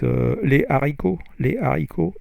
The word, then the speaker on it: les haricots: It's like the famous example is les haricots, H-A-R-I-C-O-T-S, the beans. Les haricots, you don't say les haricots, you say les haricots.